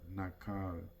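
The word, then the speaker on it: Naacal: it was called the Nal or nak rhymes with Mall Ministry School where they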